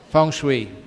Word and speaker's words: feng shui: we arrange furniture in your house how'd you pronounce that Fung Shui okay Fung Sui how many of you believe